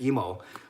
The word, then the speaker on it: Emo: last name of Emo, although it's spelled, and it looks like Imu or Emu, it's actually Emo.